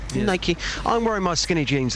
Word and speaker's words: Nike: Is that how you pronounce it? Oh, no, it's Nike. Nike.